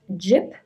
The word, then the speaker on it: gyp: this is the word it is pronounced jip that is the first part of the word Gypsy so these are refers